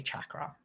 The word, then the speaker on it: chakra: I should tell you, I did get told the proper pronunciation, which is chakra. And I should actually pronounce it like that. It's not chakra, it's actually chakra.